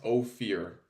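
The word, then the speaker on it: Ohir: I'm getting that wrong it's pronounced Oar uh it's spelled o h i r but yeah yeah you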